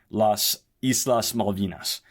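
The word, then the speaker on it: Las Islas Malvinas: has also claimed the islands and calls them Las Islas maldinas uh and the two even great pronunciation thank you very much that's uh shout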